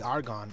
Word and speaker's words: Argonne: however people want to call it because it is spelled arg o NN e I say are gone I think it's alright if I'm wrong you